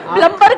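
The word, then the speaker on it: plumber: हो सकता है सर उसको खुद ही नहीं पता कि बी साइलेंट है।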